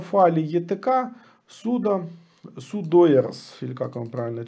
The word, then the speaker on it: sudoers: Они хранятся в файле etc sudo, sudoers, или как он правильно читается?